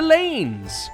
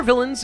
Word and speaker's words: villeins: welcome to Lords and the lanes or villains if you prefer that's also a correct pronunciation though I don't want